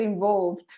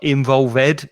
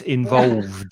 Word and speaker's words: involved: Be careful of the pronunciation with that ed ending. Yeah. It's not involved, it's involved.